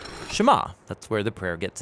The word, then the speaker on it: Shema: is hear or listen which in hebrew is pronounced shema that's where the prayer